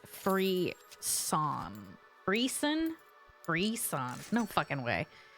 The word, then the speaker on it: frisson: Apparently, Google says you're supposed to pronounce this frisson.